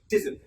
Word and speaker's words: dessert: Dessert. My favorite dessert is custard. My favorite dessert is custard. So no desert but dessert.